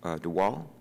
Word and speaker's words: DeWall: Is it Ms. DeWall? Is that correct? DeWall, that's correct.